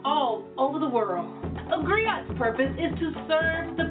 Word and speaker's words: griot: share that history with you agree oh it's pronounced griot for English agree eyes it's the West African